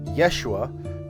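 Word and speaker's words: ישוע: They just take the ho out of the middle because Yehoshua, it's a little difficult to say. But if you just say Yeshua, you sort of cut out a whole syllable and you make it flow easier.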